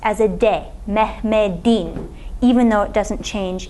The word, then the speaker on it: Mehmet: is still written as a te but it's pronounced as a day mehmed even though it doesn't change in writing